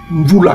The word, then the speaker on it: Mvula: qui s'affiche sur l'écran, on a dit que ça se prononce Mvula. Mvula, chez nous les Congos, ça se prononce Mvula, qui indique le temps et qui indique aussi l'éternité.